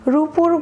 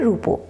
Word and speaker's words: রূপো: এখানে রূপা শব্দটি উচ্চারণের সময় শেষে আ ধ্বনিটি রয়েছে, সেটা অবশ্যই বুঝতে পারছো তোমরা। সেই ধ্বনিটি পরিবর্তন হয়ে কি হয়েছে, রূপো, রূপো হয়েছে। রূপো শব্দে ও ধ্বনিতে পরিণত হয়েছে।